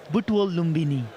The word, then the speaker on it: Butwal Lumbini: The 25-year-old plays for Butwal Lumbini. Butwal Lumbini.